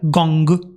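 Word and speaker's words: 工: mesita o un pedestal se pronuncia gong y sus acepciones que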